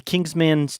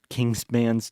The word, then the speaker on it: Kingsman: reading today Kingsman like pronounce it like an e n and not an a n the Kings kingsman's Kingsman Kingsman not Kings